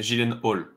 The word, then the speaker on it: Gyllenhaal: À chaque fois, D'après lui et sa prononciation d'où ça vient, c'est Gyllenhaal.